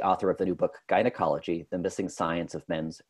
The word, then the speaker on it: GUYnecology: But today we're going to talk about gynecology. That is spelled G-U-Y-N-E-C-O-L-O-G-Y, gynecology, which argues that the historical